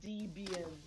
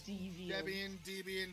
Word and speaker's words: Debian: does that tell you it's not pronounced dbm it's DVD same thing